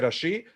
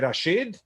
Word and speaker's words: Rashi: Porque las mujeres, al sentir los hombres decir letras de Rashi, decían letras de Rashid o letras de Al-Rashid.